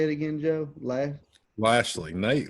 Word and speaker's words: Lashley: how do you say it again Joe lei Lashley nice Lashley lastly at 25 under got in the field